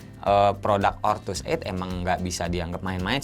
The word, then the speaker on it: Ortuseight: ini dan ini memang benar-benar bacanya ngomong ortuseight ya karena kalau terlihat nih